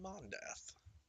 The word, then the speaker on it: Mondath: Her name is Frulam Mondath. Spelled like something. So, hang on. Monday, but with a TH.